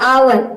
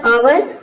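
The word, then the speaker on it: hour: जैसे कि देखिए यहाँ पे है आवर, एच ओ यू आर। ओ यू एक साथ आया है लेकिन इसका उच्चारण आ रहा है आओ, आवर।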